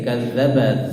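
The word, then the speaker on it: كَذَّبَ: Walaqad kadzdzaba, jadi kadzdzaba dzal di situ bukan dal, bukan kadzdzabal tapi kadzza.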